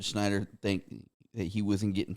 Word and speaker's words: Schneider: I know he had a lot of shit talking to do to Rob Schneider, and it's just am I saying that Rob Schneider? Schneider.